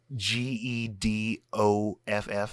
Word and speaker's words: Gedoff: Gedoff, almost like Geoff, like when they put that in Jeffrey, but like Gedoff.